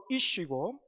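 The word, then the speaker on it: איש: 여기에 남자는 히브리어로 이슈고 여자는 이샤입니다. 발음이 비슷하죠. 그죠?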